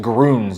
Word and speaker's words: Grüns: You pronounced it Gruns, not Gruns.